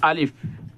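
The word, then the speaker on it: ألف: এটার নাম হলো আলিফ। আবার বলতেছি আলিফ। আলিফটা উচ্চারণ কিভাবে? দুইটা ঠোঁটের মধ্যখানে একটু ফাঁক থাকবে আর একটু বাতাস বের হবে, যেমন আলিফ আলিফ।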